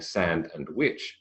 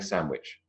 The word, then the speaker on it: sandwich: sandwich hand the bag the DU in both of those words is gone doesn't make it illegitimate doesn't make it incorrect pronunciation but it does mean that we are not saying sand and witch we're saying sandwich we're not saying hand